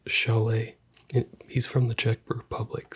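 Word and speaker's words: Šalé: Probably Shale or some sort of spelling along those lines. It is actually spelled Sale. It is spelled sale, but it is pronounced Chalet.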